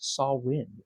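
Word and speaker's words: Samhain: experience um even Sam very few get it right it's actually pronounced saw wind it's from the Celtic holiday that was the saw wind cele ation that led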